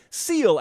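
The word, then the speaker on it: Seale: They're watching us in Clingman, North Carolina, Austin, Texas, Seal, Alabama, silent E on the end of Seal, not to be confused with Sealy, Texas.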